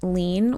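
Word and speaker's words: Liene: It's by the brand Lean, which is spelled L I E N E, and they sell them on Amazon.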